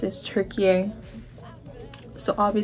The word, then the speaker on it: Türkiye: put it down here but that's how they pronounce is tury so I'll be saying turkey in the video